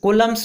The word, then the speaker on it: Coulomb: इसको ठीक से प्रोनाउंस कीजिएगा और इसका स्पेलिंग भी नोट कीजिएगा, COULOMB कूलम्स होता है।